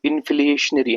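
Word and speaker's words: inflationary: इसमें एक जगह पे मुझे मेरी प्रोनाउंसिएशन में प्रॉब्लम हुई है। एक्चुअली वो है इनफ्लेशनरी। इनफ्ल इनफ्लेशनरी है।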